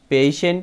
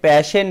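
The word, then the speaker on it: patient: Many মানে অনেক, পেশেন্ট, পেশেন্ট মানে হচ্ছে রোগী। বন্ধুরা, আমরা কিন্তু অনেকেই প্যাশেন্ট বলে থাকি, প্যাশেন্ট না, সঠিক উচ্চারণ হবে পেশেন্ট।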